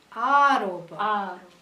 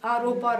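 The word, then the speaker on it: āropa: Snake is Aropa, even though Aropa rhymes with rope.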